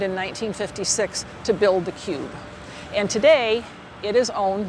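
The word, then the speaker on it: Qube: the street from the guardian building is the cube that's spelled q-u-b-e and i'll explain why it's named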